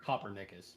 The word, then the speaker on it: Copernicus: I just shrug and go, Copernicus? I think it's That's pronounced Copernicus, but thank you.